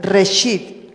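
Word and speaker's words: ראשית: La palabra primicias en hebreo se escribe reshit.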